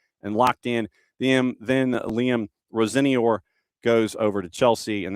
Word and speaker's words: Rosenior: Liam, so we now officially do have a pronouncer on what Liam wishes to be called. It is officially Rosenior.